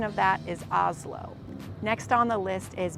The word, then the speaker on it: Oslo: with the Oslo theater this is pronounced more like Oslo from Norway not as it's written with oelo so the pronunciation of that is Oslo next on the list